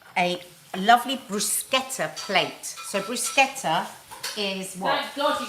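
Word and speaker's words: bruschetta: going to make a lovely brusa plate so brusketa is what thank God you said it right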